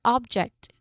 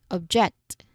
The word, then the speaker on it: object: Of course, we have here object. Object again. Object. object. So, it's spelled the same both ways, but depending on how we stress the word, the meaning and function totally change.